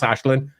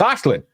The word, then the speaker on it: Aislinn: We just see that name and we're like, "That's Ashlin. It's Ashlin."